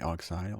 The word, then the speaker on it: Oxyle: So there's a Swiss startup, which is, I don't know how you pronounce it exactly. It's Oxyle. I would say Oxyle. Yeah, that's Oxyle.